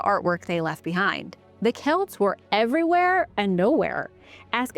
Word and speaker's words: Celt: Over time, Roman and Greek writers began referring more often to tribal societies they called the Keltoy. So, we pronounce it Kelt.